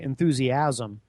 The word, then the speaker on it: enthusiasm: pronounced it that way enthusiasm it's actually enthusiasm not enthusiasm I put the uh the empasis on the wrong salel but according to this